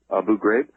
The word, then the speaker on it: Abu Ghraib: Iraq now or Afghanistan and everything how to pronounce that person's name Abu are you brave yeah Abu Ghraib okay I'm the torture scandal that's going on